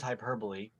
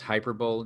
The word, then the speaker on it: hyperbole: him to make the point, I think with hyperbole in this case, which is, I think, a favorite thing that Jesus uses is Pronounced hyperbole, Josh.